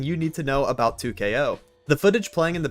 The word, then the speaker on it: 2XKO: up I got some 2ko content for you guys yes the x is silent no I will not